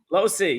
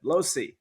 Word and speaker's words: Lohse: name I'm M Losi Losi yeah so the H is silent Losi okay alrighty so Sarah's